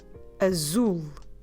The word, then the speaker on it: azul: say blue communicate blue in portuguese we say azul zul azul i'd spell it so a zoo means blue and this